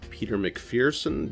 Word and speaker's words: Peter McPherson: we are here with a very special guest Peter Macpherson did I pronounce that correctly yes yes good I've been